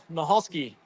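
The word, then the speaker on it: Michalski: Mahalski.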